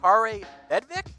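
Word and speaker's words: Kaare Vedvik: I believe it's pronounced Kare Bedvik. I don't know if I'm pronouncing the first name right, but it's 2 A's in it because he's Norwegian.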